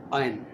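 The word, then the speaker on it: iron: not working या functioning, उसको आयरन नहीं बोलना, आयन र का साउंड कम करना है, उसको साइलेंट की तरह से बोलना है, आयन, आयन, माई आयन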